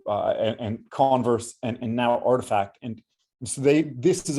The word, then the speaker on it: RTFKT: bought a company called artifact rtfkt but it's pronounced artifact um and and if you look at this